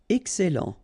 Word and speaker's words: excellent: Excellent. Okay, you've got double L here, and then it will open the sound of your E here, and it will be E. Excellent.